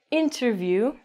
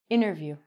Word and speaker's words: interview: So if your T comes after an N, it's going to be silent. This is mental. So we don't say interview. We say interview.